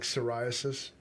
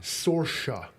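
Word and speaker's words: Sorcha: You keep calling her like psoriasis. Sarosa. Sorca. Sorca. Say it. Sorca. That's how you pronounce that. Sorca. That's an Irish name.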